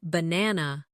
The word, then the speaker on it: banana: For example, in the word banana, the stress is on the second syllable.